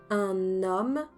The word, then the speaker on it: un homme: Je dis bien un homme et pas un homme.